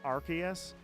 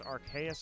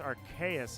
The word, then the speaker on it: Arceus: arceus the pronunciation is archaeous or arceus the reason it's archaeous is because to me it's archangel archaeous it literally comes